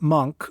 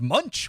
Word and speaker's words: Munch: Europe to make his next few films Edward monk from 1974 thanks for taking that bullet of saying his name before I said Munch while talking about this I know I know I I always pronounced it Munch too I thought it was like Robert Munch